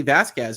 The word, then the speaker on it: Vasquez: Vasquez is pronounced correctly it's phonetically Vasquez Elaine repeatedly said it wrong I had to ask myself I'm like I've been saying Vasquez the whole time and I think Elaine every time says Vasquez um so yes it